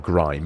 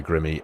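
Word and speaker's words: Grimme: It's not grime, is it? It's Grimmy.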